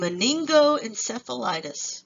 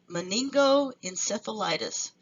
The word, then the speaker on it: meningoencephalitis: in the New World and meningoencephalitis that's how you say it meningoencephalitis and so here we